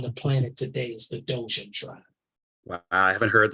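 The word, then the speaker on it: Dogon: oldest tribe on the planet today is the dojan tribe well I haven't heard that story that's interesting it's spelled dog on d-o-g-o-n dojan tribe in Africa yeah there's been lots of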